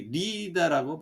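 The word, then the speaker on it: Lydda: 그 루다와 샤론, 이 리다라고 발음하죠. 루다라고 하는 지역이에요.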